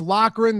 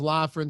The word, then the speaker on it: Loughran: most black dog it's Loughran they say why is your name you know yeah it's tough when I was a kid nobody could pronounce it they all thought it was laughing so my friends thought